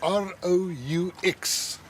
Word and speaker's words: Roux: Comment ça s'écrit? R-O-U-X.